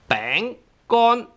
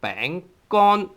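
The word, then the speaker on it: 餅乾: A dry piece of a thing created by flour is 餅乾. 乾. Tone 1, bang, and bang is tone 2. So we have 餅乾, biscuit or cracker.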